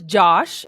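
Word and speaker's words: Jawsh: His name is Josh and it's spelled jaw. J A W S H. Josh.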